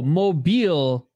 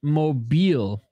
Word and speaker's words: Mobile: record Isha um oh mobile uh home of Mardi Gras is pronounced mobile sorry I'm just used to the phone right mobile or the mobile homes